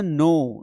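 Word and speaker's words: know: जैसे नो नो मतलब जानना। कई लोग इसको कनो पढ़ते हैं। कनो डू यू डू यू कनो मी? अरे कनो नहीं होगा के है ही नहीं वहां पे मान के चलो है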